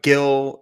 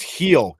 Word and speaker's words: Gil: you know you have gill and you have green both tommy john then you have stanton on the d.o it's pronounced heel gringo heal nick back